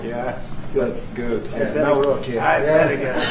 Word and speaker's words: Nawrocki: I Nawrocki.